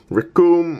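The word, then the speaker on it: Recoome: So we've got Captain Ginyu, Rikum, whose name rhymes with Doom, Guldo, who we can ignore because Guldo is a blank page on Dante's domain, Jace and Bertha.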